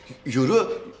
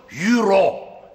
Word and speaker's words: Euro: Abim bu ne be yuru ne lan yuru Ne euru euru Amirim e Avrupa parası Amirim Ya olur mu euro e u re o yazılıyor Euro okunuyor Anlaşıldı mı o r Euro